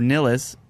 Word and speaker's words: Nillas: yeah jeff niles or nillas they're two elves and nilla's asked to rhyme with bruce willis so jeff nillas yeah